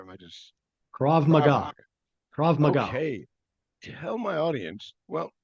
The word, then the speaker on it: Krav Maga: well you mentioned your fous reader exercising and crave Maga or am I pronouncing that or am I just KRA mag KRA Maga okay tell my audience well how about tell